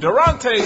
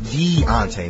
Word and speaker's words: Deontay: Oh, Durante sounds the buzzer for the challenge. It's pronounced Deontay, man.